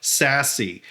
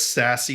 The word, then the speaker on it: SASE: and i believe it's important to talk about sassy and what the market is implicating for the entire industry and as a good starting point i think it's best to understand what does sassy stand for and it stands for security access